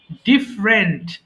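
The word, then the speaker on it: different: আমরা সারাক্ষণ সারা জীবন বলে আসছি এটা ডিফারেন্ট, কিন্তু উচ্চারণটা হবে ডিফারেন্ট। ডিফারেন্ট আলাদা।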